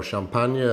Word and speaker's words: Champagne: your host Campbell Williams champagne or champagne yay as the French tent call it is one of our